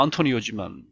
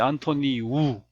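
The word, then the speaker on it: António: 그다음에 앞에 안토니오도 영어로 읽으면 안토니오지만 포르투갈 사람이니까 뒤에 안토니우 우로 읽는 안토니오가 안토니우 구테흐스 이렇게 된 거네.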